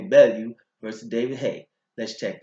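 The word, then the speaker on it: Bellew: Tommy Bell you or let me say it correctly now Tony Bell you first David hey let's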